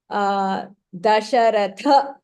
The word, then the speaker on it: दशरथ: Dasharatha, tha is Mahapranah.